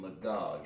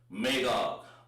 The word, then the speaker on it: Magog: It's going to be pronounced, if I'm not mistaken, Magog, isn't it? Magog. Magog. And that's pronounced Magawag. Wag.